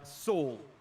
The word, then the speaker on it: Saul: Okay, Outlaw says Saul. So it is S-A-U-L pronounced in that way. So Outlaw's in chat. We know that now. So it will be Saul.